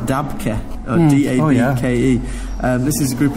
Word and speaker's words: Dabke: I think it's pronounced Dabke.